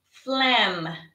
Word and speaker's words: phlegm: because you probably have phlegm. Remember, PH in English is pronounced as an F. It has an F sound. So phlegm.